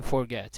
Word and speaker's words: forget: Stressed syllable in forget. Ele vai te mostrar qual que é, tá vendo? Que é o get, beleza? Então o final dele é forte, é tônico, por isso que a gente repetiu, ok?